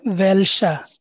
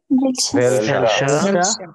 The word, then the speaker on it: welcher: wohin, wohin, আরেকটা আছে ভেলসা, বলেন তো ভেলসা। welcher, ভেলসা এটা হচ্ছে কোনটা বা কোনটি, ঠিক আছে, ভেলসা।